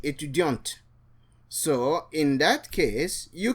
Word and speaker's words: étudiante: And the woman will say, je suis étudiante. The T is pronounced for a woman, but the T is silent for a male.